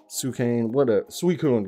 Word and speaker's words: Suicune: Like I really want the Suicune, god dang it. There, pronounced it right that time.